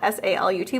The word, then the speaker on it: salut: So it's spelled S-A-L-U-T, but it's not salut, salut, because it doesn't have any other vowels after that T.